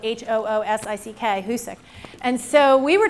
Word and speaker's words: Hoosick: For those of you who don't know, it's spelled H-O-O-S-I-C-K, Hoosick.